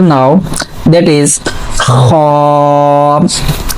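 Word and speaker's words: خاء: Okay, so next letter now, that is Kha. Say again Kha. Okay, so also we are checking the origin of the letters. So for pronouncing Kha we are using our upper part of throat.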